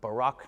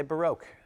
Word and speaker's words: baroque: and ian has written baroque notes or barack notes depending on how you pronounce it i say baroque baroque notes now baroque